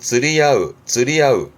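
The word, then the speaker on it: 釣り合う: 발음은 쯔리야으.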